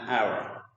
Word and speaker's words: hour: in the word our H here is silent so the O that is pronounced the word so that's why we use n to pronounce an hour okay if the consonant